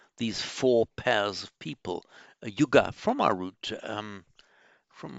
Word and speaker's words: yuga: that's come into English you can make an alternative verbal noun with a short u um it's a neuter the yuga it means a pair it also means an